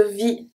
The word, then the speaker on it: vie: De vie. De vie. I don't say vie. I say vie. So the E is silent.